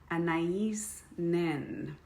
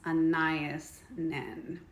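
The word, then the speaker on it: Anaïs Nin: So while I put on this naughty palette, let's talk about one of my favorite infamous women, Anais Nin, often mispronounced as Anais Nin.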